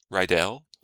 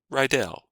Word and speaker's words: Rydell: My name is pronounced, well, the way I'm used to pronouncing my name is Rydell, which is apparently not correct in its German origin, but I've never been to Germany.